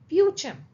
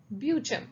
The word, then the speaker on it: Beauchamp: A father was Harald ब्यूचम ब्यूचम so here the पी is silent be very careful about the pronunciation Her father was Harold Beauchamp and the name of her mother was Annie Bonnell Beauchamp.